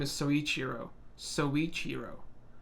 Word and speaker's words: Soichiro: calling him that but his real name is soichiro so each hero soichiro I mean this is like his last episode